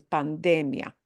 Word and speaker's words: pandemia: And that's enough like English, but a little different emphasis, pandemia. And actually, one interesting thing we should look at with this word, a lot of times when things end in IA, we're used to ia, right? Ia. But notably, this does not have the ia punch.